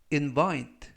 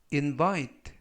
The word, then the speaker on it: invite: 뜻이 되겠습니다 이번 표현은 invite invite invite라고 발음하시면 되겠고요 이때 강세는 두 번째 나오는 알파벳 아의 강세가 있습니다 그래서 invite라고 발음하시면 좋겠고요 품사는 동사 뜻은 초대하다